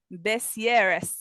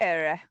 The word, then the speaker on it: Bessières: God, don't make me, Bessieres. I was gonna say just don't pronounce any of the consonants. Like at the end of the words. You'll probably get it. Bessières have a unique tradition to welcome spring.